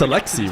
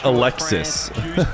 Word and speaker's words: Alexi: know Zen's name is It's Alexi, right? That's how you That's how you say it. The Saudi Arabian I don't think it's like the American Alexis been brought in for it.